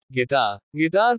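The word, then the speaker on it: guitar: U is silent after G in some words. कुछ शब्दों में U, G के बाद आता है तो का उच्चारण नहीं होता। गैस अनुमान। गिटार संगीत वाद्य।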